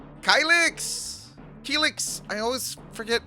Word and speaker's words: Kylix: It was Kylix, but then I met Hama, pronounced it Keelix, and I loved it, so Keelix it is. Okay. So Kylix isn't necessarily wrong, but It's not with the times.